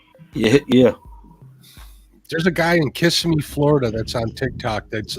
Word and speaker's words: Kissimmee: It's pronounced Kissimmee, right? Kissimmee. Kissimmee.